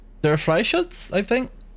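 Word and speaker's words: Freischütz: It's like Freischutz? There are Freischutz, I think. I was explicitly told that I pronounce the R like it's in the back of my throat.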